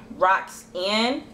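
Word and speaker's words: ROXVNNE: We follow each other on Twitter, and her name is at Roxanne, and it's spelled R-O-X-V-N-N-E. The V is supposed to be upside down A.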